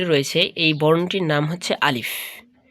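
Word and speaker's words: ألف: প্রথম যে বর্ণটি রয়েছে এই বর্ণটির নাম হচ্ছে আলিফ। আমরা অনেক সময় আলিফ বলতে গিয়ে আলিফ বলে থাকি। আলিফ বললে উচ্চারণটা সঠিক হবে না।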